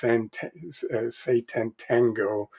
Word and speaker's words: Sátántangó: So I finally dug in to Béla Tarr's, and I don't know if I pronounce this correctly, but it's Sátántangó.